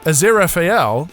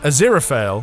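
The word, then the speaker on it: Aziraphale: who you talk to he's a zero FAL according to Pratchett and a zero fell for Gaiman whatever your preferred pronunciation the rare book collecting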